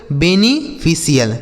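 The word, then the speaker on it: beneficial: दोस्तों फी वेनिफी और सी आई एल का उच्चारण क्या हो जाएगा सी एल यह लिखा गया आपका वेनिफिशियल क्या लिखा है मेरे दोस्त बेनीफिशियल आप खुद पढ़ के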